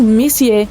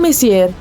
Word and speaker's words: Messier: e m43 bom o m significa messier pronunciado messier e não messier Charles messier para ser